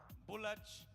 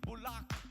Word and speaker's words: Bulak: restaurant is Bulak. I pronounced it incorrectly first. It is Bulak.